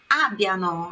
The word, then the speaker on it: abbiano: Abbiano, a sílaba forte lá no A, não é abbiano, é abbiano.